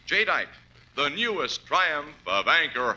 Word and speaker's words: Jadeite: Remember the name Jite. That's spelled J A D E I T E. Jite, the newest triumph of anchor hawking.